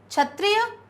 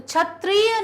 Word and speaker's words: क्षत्रिय: शब्द बोलेंगे सही लिखेंगे आहार बिल्कुल नहीं आहार क्षत्रिय तो छतरियां नहीं है क्या है शब्द छतरिया छतरिया तो